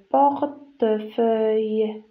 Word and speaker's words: portefeuille: porte le fauteuil le fauteuil le fauteuil le portefeuille le port le porte, le portefeuille, le portefeuille, le portefeuille.